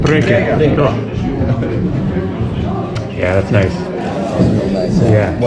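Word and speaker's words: Priekā: Prieka. Preka. Preka.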